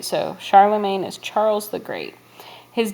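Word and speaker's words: Charlemagne: that's kind of an odd spelling but it's pronounced Charlamagne he was the king of the Franks which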